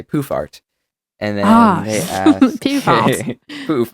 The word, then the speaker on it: Poohfart: It's spelled POOHFART, poofart, like poofart. That's how I say it.